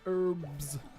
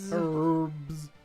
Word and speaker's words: herb: Americans but really why why do you pronounce herb with an E herb no it's the H that they struggle with right no that's what I mean they pronounce it with an e and they don't use the H uh so it was